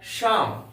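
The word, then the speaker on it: psalm: इसका उच्चारण होता है श्याम पी एस ए एल एम इसका उच्चारण होगा श्याम इसमें पी तथा ए साइलेंट है इसका अर्थ होता है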